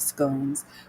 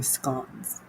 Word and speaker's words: scones: pastries and you have scones well I'm saying it wrong it's actually scones I say scones but that's actually incorrect so let's look at the